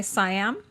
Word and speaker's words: Siam: right by the way siam like king of siam uh yes siam is the western in thailand they say seattle and thailand okay i'm